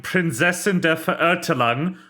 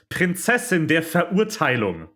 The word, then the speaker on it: Prinzessin der Verurteilung: The line Prinzessin der Verurteilung should be pronounced Prinzessin der Verurteilung, which is not at all the same sounds.